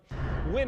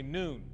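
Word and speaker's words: Nguyen: found that black Honda win is a common Vietnamese name spelled ng u y en many people pronounce it win while some say noon police say this man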